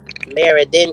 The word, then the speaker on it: Meriden: We're in Connecticut, I live in Meriden, Connecticut. Maryland, Connecticut, Meriden, Connecticut. Meriden, Connecticut. Yeah, it's kind of spelt like Meridian, Mississippi, but it's pronounced totally different.